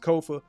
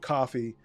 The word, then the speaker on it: Kofa: Once again, I am your humble host, Kofa, Kofa, not coffee, not kufu, not Kofi, or any variation thereof. Kofa rhymes with sofa.